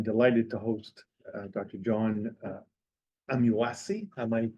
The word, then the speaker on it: Amuasi: uh and I'm delighted to host Dr John amuasi am I pronouncing it correctly very good I congratulate myself